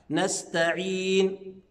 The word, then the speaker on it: نستعين: هضمها، نعبد، إياك نعبد وإياك نستعين. شايفين حضراتكم السين والتاء كلها حروف مرققة، فأقول نستعين، يبقى ما ينفعش أقول نسطا، لا، ما ينفعش، نستعين.